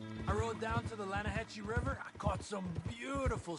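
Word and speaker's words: Lannahechee: rolled down to the Lana Hetchy River I caught some beautiful steelhead trout mainland no no no the Lana hacci it runs right near here yeah but it's pronounced Lana Hass why is everything in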